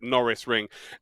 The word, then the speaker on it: Norisring: norris ring which uh i'm never quite sure how to pronounce it but i'm pretty sure that's it well during last year's dtm trophy i was told in the chat many a time it's like lando norris so we actually called it the lando norris ring of the year so that's how i would pronounce it norris ring it is one of